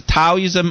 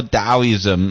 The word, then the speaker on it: Taoism: t-a-o but in actually in original chinese pronunciation that's a d-a-o so so either way either way it's taoism or taoism uh it depends which